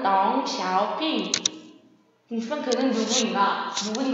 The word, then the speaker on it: 덩샤오핑: 등소평, 중국어로는 덩샤오핑.